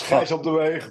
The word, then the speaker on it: Gijs op de Weegh: Yes, that is correct. It's Gijs op de Weegh, but it's a Dutch name which is very hard to pronounce.